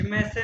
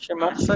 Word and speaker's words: श्मेत्सन: हाँ, शिमर्सन भी हो सकता है ना? श्मेत्सन, नहीं, खे खे भी आएगा ना, शिमर्सन। श्मेत्सन खे नहीं है, श्मेत्सन, श्मेत्सन, श्मेत्सन। असल में इसमें खे नहीं है। इसमें आपको एक बात हो, जर्मन वाले जो है ना, जेड को यहाँ पे श्मेत्सन, श्मेत्सन कहेंगे, श्मेत्सन कहते हैं, श्मेत्सन।